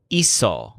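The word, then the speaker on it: hizo: faster than I did the lizard's word for he made or she made is ISA kind of like he's so-so try to remember ISA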